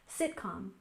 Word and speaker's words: sitcom: States our next word sitcom has stress on the first syllable sitcom sitcom this is a shortened